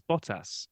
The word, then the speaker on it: Bottas: No, well, I just said I just went with what I've always said, and I said I think it's Bottas, and he said that's correct.